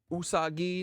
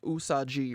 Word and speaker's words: usagi: us pronounced USAG usagi not USAG G right usagi usagi I